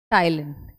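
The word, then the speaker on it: ptyalin: जिसको हम कहते हैं टाइलिन both the words are equally important ठीक है पीस में साइलेंट होता है आपको याद रखना है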